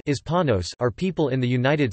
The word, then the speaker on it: hispanos: Hispanic Americans and Latino Americans Spanish, estadounidenses hispanos, pronounced hispanos are people in the United States who are descendants of people from countries of Latin America and the Iberian Peninsula.